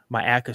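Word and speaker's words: Myakka: It's pronounced Myaca State Park.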